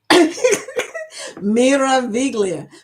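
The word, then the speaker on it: Meraviglia: Uh, Eddie told me to pronounce it the right way. Mera Viglia, what does it mean?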